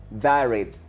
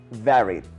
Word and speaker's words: varied: eso es spicy spicy la siguiente palabra termina en Ed y no pronunciamos la d al final de las palabras A menos que terminen en Ted o ded esta de aquí no lo termina de esa forma por tanto no lo pronunciaré como Ed sino solo así varied Eso significa variada comida